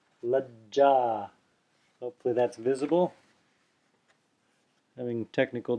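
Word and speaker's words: लज्जा: So the Sanskrit example here is Lajja. See it there? Lajja. Lajja. Hopefully that's visible. Having technical difficulties here. Yeah, there it is. Lajja. Lajja. Notice how I'm putting a pause there. I'm not saying lajja, I'm saying lajja.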